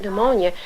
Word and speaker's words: pneumonia: to find the word pneumonia unless some teachers told him that the p is silent and you take those